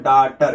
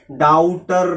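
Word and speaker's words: daughter: हो जी एच हो ये दोनों क्या होते हैं साइलेंट होते हैं जैसे ये देखो डाटर इसे क्या पढ़ेंगे डाटर डाउटर नहीं पढ़ेंगे डाउटर पता नहीं क्या क्या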